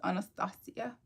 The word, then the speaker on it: Anastasia: it was Tiana, then, Anastasia, or Anastasia, depending on where you're from. The name is actually pronounced Anastasia.